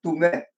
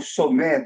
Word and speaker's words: Tomé: tinha sido feito por Tomé. Esse T do Guarani, o português e o espanhol não consegue pronunciar, então fica como Somé, Subé ou Subé.